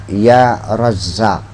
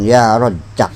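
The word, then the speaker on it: يا رزّاق: di sini saja bacanya ya razzaq Awas ya razzaq jangan ya rq ya razzaq faalun jangan jangan rejakak iyairang Iya jadi tetap ya razq ya roazq ya roazq ya rozq jangan ya rozq Rozak roak begitu tapi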